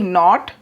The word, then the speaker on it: know: डू वी नॉट, जानने की होती है नो, KNOW, इसको हम नो बोलते हैं, इसमें के साइलेंट रहता है।